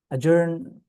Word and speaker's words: adjourn: Ajourn adjacent that's another word in all of them the D is silent okay the D is